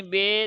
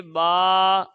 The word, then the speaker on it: با: حروف تہجی 29 ہیں۔ حروف مفردات کو تجوید و قراءت کے مطابق عربی لہجے میں ادا کریں، اردو تلفظ سے پرہیز کریں، یعنی بے، تے، سے، ہے، خے، توئیں، زوئیں وغیرہ ہرگز نہ پڑھیں، بلکہ با، تا، ثا، حا، خو، طو، ظو پڑھیں۔ اب 29 حروف کون سے ہیں؟